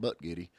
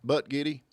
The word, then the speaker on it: Buttigieg: I think they're talking about Butt Giddy.